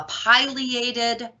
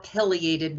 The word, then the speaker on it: pileated: talk about is the pileated or pileated woodpecker it doesn't matter how you pronounce it both pronunciations are fine pileated or pileated either way that word pileated refers